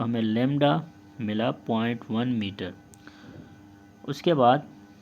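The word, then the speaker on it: lambda: तो प्रोनाउंसिएशन आप लेमडा से इसकी करेंगे।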